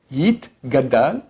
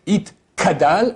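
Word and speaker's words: Yitgadal: Yit, gadal, et yit, kadash. Les gens font le contraire. Des fois, ils disent yit, kadal, et yit, gadash. Ça va pas.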